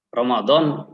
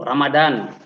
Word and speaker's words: Romadhon: terdapat di bulan cronaldo Awas pengucapan Romadhon Jangan sampai salah ya nanti Mananya Mananya juga salah sering kita mendengar dalam pengucapan Romadhon itu Ramadan itu kan apa artinya the ya Jadi kita jangan sampai ikut-ikutan yang salah jangan sampai kecil yang